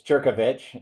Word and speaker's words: Jerkovich: I am so so happy to have my guest Jerkovich with me. Is that the right way to say your last name? It's close. You got it close enough. It's Jerkovich.